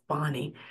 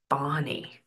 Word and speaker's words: Fani: the screen Fanny or fonnie is definitely spelled uh Fanny but it's pronounced fonnie fny like f a w n y fonny or F A WN